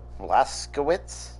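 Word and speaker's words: Blazkowicz: series yeah and his name is Billy Joseph blaskowitz how does a stick with Billy but thank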